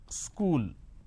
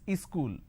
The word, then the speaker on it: school: to america for example the word which is school there are two syllables school school but in in places like up bihar jharkhand they add another syllable they pronounce this as ischool wherever there is a